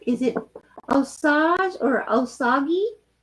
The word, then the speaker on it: Osage: Annie, my ancestry includes the is it Osage people of Missouri? Is it how you say it? Osage?